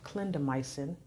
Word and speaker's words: clindamycin: Well, I know one of them, it's pronounced clindamycin.